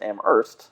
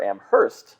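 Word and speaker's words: Amherst: you can tell because if it's Massachusetts am urst with a silent h and all the rest are am Hurst with a pronounced H oh very good I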